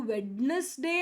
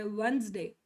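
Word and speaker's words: Wednesday: ಏನು ಕಷ್ಟ ಕೊಡಲ್ಲ ಅವರು ಇಷ್ಟು ಸ್ಪೆಲ್ಲಿಂಗ್ ಡಿಫಿಕಲ್ಟ್ ಇದ್ರು ವೆಡ್ನೆಸ್ಡೇ ಅಂತ ಅನ್ಬೇಕಂತ ಇದ್ರುನು ಅವರು ಅದನ್ನ ಹಂಗೆ ಅನ್ನಲ್ಲ ಏನಂತಾರೆ ವೆನ್ಸ್ಡೇ ವೆನ್ಸ್ಡೇ ವೆನ್ಸ್ ಡೇ ವೆನ್ಸ್ಡೇ ಬುಧವಾರ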